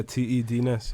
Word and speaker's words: Te Dness: So I'd like to introduce everyone to man like T.E. Dness. Yeah, man. Make sure you got the pronunciation correct. Yeah. T.E. Dness, yeah.